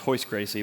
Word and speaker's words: Royce Gracie: not Royce Gracie but his brother which is pronounced horse Gracie but um Rickson Gracie pronounced Hicks and Gracie